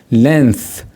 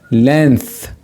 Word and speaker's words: length: the right length so G here is not pronounced we say length length what does it mean